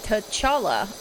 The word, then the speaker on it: T'Challa: i think there's going to have um sorry t'challa i had to look back at the pronunciation t'challa sister shruti become the black panther